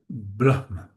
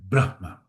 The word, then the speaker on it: Brahma: Um, we stress the first part in this case and actually we make a little separation for a proper pronunciation. That's why we say Brahma with a little bit of air.